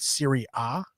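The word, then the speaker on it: Serie A: You you said Siri A. Yeah. Yes. Why Siri A? Uh that's just a you know but the Italian uh pronunciation relegation is a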